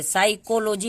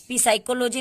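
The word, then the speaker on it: psychology: अब इसको देखिए, जब भी अब देखिए एस के पहले जब भी पी आए तब भी पी साइलेंट होता है, ठीक है। इसको देखिए 100 से हम उच्चारण करें, साइकोलॉजी इसको पढ़ते हैं, पी साइकोलॉजी नहीं पढ़ते हैं, पसाइकोलॉजी नहीं पढ़ते हैं।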